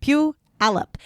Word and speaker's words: Puyallup: And I'm like, "It's not poo. It's pew." Puyallup. And so, or some people I've even seen like on TikTok and stuff where they'll they'll try to say like Puyallup.